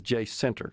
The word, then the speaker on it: Jacinto: All right, so I'm told that the locals say it as J Center. Is that right? J Center, Jacinto, Jacinta, Jacinto, however you want to do it.